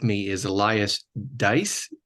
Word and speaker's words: D'eis: if not he can correct me is Elias dice how do I do Elias yeah a dice a dice okay I'll get it I I'll